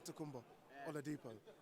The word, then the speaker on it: Adetokunbo Oladipo: On the pronunciation, is that a Nigerian name? Yes, Nigerian. Yeah, the full name is Adetokunbo Oladipo, but Ade because that's quite a long one to do.